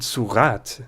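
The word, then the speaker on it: sourate: So in surat, the final E lets us have our T, but lop off that final E, and I promise you, any French reader will pronounce this as a silent T.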